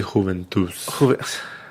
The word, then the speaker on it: Juventus: And It's actually Juventus. Gotta pronounce it in Spanish, man.